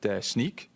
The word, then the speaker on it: Snyk: I mean, I was told it's Snyk, like sneaker, okay?